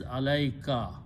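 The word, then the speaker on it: عليك: this u is okay so when you combine these two words together they are pronounced and written as alaika alaikum is upon you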